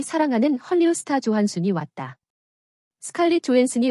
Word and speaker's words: Johansson: 스칼렛 조한슨이 원래 발음인데 한국에서는 스칼렛 요한슨으로 불려서 어색하다. 이렇게 이름을 부르는 이유는 스칼렛의 아버지가 덴마크인으로 미국과 이중국적을 가지고 있지만 미국인 정체성을 가지고 미국식 영어를 사용하므로 스칼렛 조한슨으로 발음을 해야 하기 때문이다.